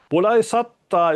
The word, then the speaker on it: Bodaisatta: Bulai satta is basically Chinese Japanese pronunciation of bodhic satwa.